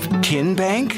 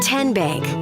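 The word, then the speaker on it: TN Bank: How do you say the name Kien Bank? Nope. Kin Bank. Uh-uh. So, what is it? 10 Bank. 10 as in Tennessee.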